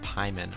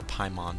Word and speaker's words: Paimon: see wren's uh dodging which is named pieman or paimon depending how you want to pronounce it and pyman or payment depending how you pronounce it is a female dojin